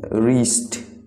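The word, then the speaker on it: wrist: तो आपका next word है कलाई, कलाई का मतलब है रिस्ट, रिस्ट। तो आपका रिस्ट में जो साइलेंट लेटर है वो है डब्ल्यू, आप डब्ल्यू का यूज नहीं करते हैं जब आपको रिस्ट प्रोनाउंस करना होता है।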